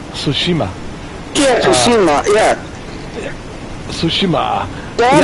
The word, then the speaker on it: Tsushima: way he said I love it uh goes toshima tsushima yeah tsushima yeah tsushima that is the best